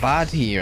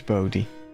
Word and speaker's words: Bodhi: What is the... Bodhi. Bodhi. Okay, it's Bodhi. I've been saying it wrong.